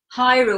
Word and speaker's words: Hiro: This is the Hiro or Hero. It's spelled H-I-R-O.